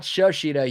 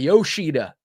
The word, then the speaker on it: Yoshida: That's not his name. Shashida? Not Shashida. Yoshida. Yoshida. Okay.